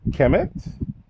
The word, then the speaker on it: Kemet: So just let you know to pronounce the M at the end. This is Kemet.